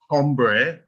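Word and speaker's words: hombre: world you are um H is silent um so for example h h o m b r e you don't say ombre you say ombre right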